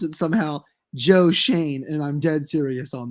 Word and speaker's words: Schoen: do have a new gm it's uh joe shone the artist they pronounce it somehow joe shane and i'm dead serious on that shane yes whatever whatever that's serious i didn't know